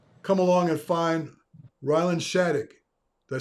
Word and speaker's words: Schadegg: such and uh come along and find Rylan Shattuck did I say it right yes sir and